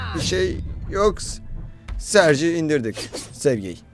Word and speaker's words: Sergey: Ve ilk Sergey, artık Serge diye öyle bir şey telaffuz ediyorlar ama Sergey diyelim.